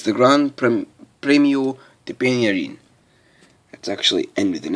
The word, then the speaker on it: Penya Rhin: anniversary today is the grand prix premio de pinna een that's actually end with an accent just the way it's pronounced and there's a picture from it i